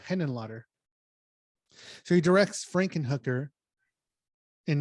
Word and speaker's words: Henenlotter: basket case right frank hennen lotter i'm probably not pronouncing that right let me look at it here hennen h-e-n-e-n-l-o-t-t-e-r yeah henon lotter so he directs frankenhooker